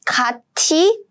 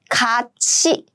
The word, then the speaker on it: 같이: When 티읕 meets 이 sound, these two combined and they become 치. So the correct pronunciation is not 같이, but it should be 같이.